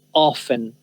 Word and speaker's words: often: Esta palabra en Estados Unidos hay algunos lugares en que las personas, sobre todo gente mayor, dice often, often, pronuncian la T. La mayoría de la gente en Estados Unidos simplemente dice often. Often, often y often. Está bien de las dos maneras pronunciarlo, pero la mayoría dice often.